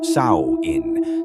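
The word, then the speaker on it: Samhain: of years to a festival called Sam Hoin pronounced sa in celebrated by the ancient Kelts Sam Ho marked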